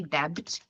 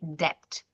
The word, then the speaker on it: debt: The B is silent. We don't say debt. We say debt.